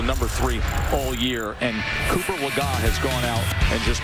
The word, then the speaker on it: Legault: Cooper Legault. That is the correct pronunciation, as we corrected ourselves just a few minutes ago.